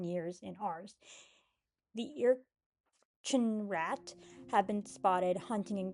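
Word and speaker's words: Ircinrraq: Cuz y'all are either werewolves or y'all just some freaky Uh next cryptid is the Ear-chin-rat. And yes, that's how it's pronounced. Ear-chin-rat.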